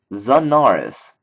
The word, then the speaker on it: Zanaris: do I okay anyways xanis is spelled like this and it's called zanaris so zanaris so I'm